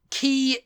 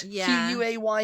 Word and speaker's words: quay: like that I'm like key is is how it's pronounced q u a y is key no it's Quay no